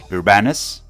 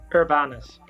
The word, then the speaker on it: Urbanus: And tonight, our host is none other than Danny Urbanus.